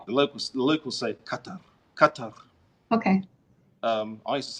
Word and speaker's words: Qatar: like we hate the locals the local safe cutter cut over okay I used to say cuz